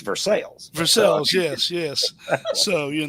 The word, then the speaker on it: Versailles: He defined everywhere else but Eastern Kentucky, it's pronounced Versailles, but in Kentucky, it's Versales.